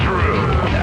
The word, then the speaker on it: Drew: My name is Drew. Pronounced with the O.